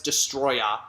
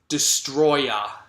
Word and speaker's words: Destoroyah: good guy but it's destroyer not just the raja and not destroyer destroyer I know it's spelled destoroyah but it's pronounced destroyer okay just to let